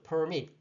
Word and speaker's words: permit: permit. 여기 보면 발음기호 볼게요. 여기 강세가 이 뒤쪽에 있죠?